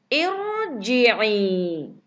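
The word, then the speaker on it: ارْجِعِي: Karena di depannya ro sukun, maka dibaca ir.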